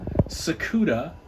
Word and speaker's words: Tsukuda: 1 yeah 1 scaled sakuda spelled with a silent T vinyl model kit fishy